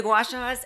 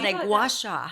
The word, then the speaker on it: gua sha: The gua shas? Um you know, we said it wrong the first time. So, it's like the little stone that you rub against your face. gua sha gua sha So, do they work?